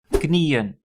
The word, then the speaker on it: knieën: Then knees, knieën. Both my knees hurt. Mijn beide knieën doen pijn. So again, the emphasis is on the one syllable that is there. So I have to place the en and the double dot on the final E.